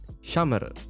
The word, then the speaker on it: Shamare: Now the way I pronounce her name is not Shamare, not Shamare, nor Sameru. That's a different thing. Shamare with a very short E.